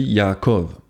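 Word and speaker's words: יעקב: En hébreu, son nom se dit Yaakov.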